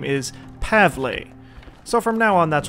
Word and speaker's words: Pavle: Well, the night was calm, but it seems Pavel got a little sick last night while we were out. Speaking of Pavel, I've been told that I indeed have been pronouncing his name wrong.